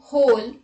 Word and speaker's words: whole: W is not pronounced in the following words. Let's look at the examples. Who, whose, whom, whole, whoever, answer, sword, to, etc.